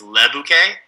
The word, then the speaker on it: le bouquet: bouquet in there and technically in french it's le bouquet l e yeah but i was